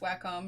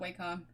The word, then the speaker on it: Wacom: is why I like the way Emily pronounced Wacom, not Wacom. Yeah, makes sense to me. I mean, the A is a soft, you know, A sound.